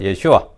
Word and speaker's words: 예슈아: 그 여호와는 구원이 다 있는데 바벨론 포로기 이후에 그 여호수아가 발음이 좀 간소화된 게 예슈아입니다. 이제 발음이 간소화된 거 예슈아.